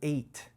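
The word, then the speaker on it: את: points to what was created so the word eighth is a pointer pointing to what God created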